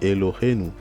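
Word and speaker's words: אֱלֹהֵינוּ: Mais là, vous remarquez qu'il y a un Nun et il y a le Ou. En général, quand vous voyez souvent dans l'hébreu des mots qui se terminent par Enu ou bien nous, des choses comme ça, on aura l'occasion de les voir peut-être dans d'autres vidéos. Souvent, c'est l'appartenance à nous, par exemple. D'accord? Donc là, c'est Elohenu.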